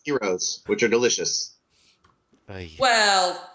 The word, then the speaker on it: Argyros: Not Do- pronounced heroes, which are delicious.